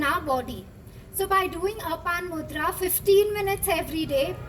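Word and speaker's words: Apana: How do you pronounce Apan, A-P-A-N-A, Apan Mudra.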